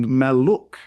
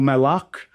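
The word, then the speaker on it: Malluch: And whether you say Maluk or Malak, I don't want you to worry about that. Whether you're pronouncing a short or a long vowel sound, it doesn't really matter. Just pick one and stick with it, and again, say it confidently.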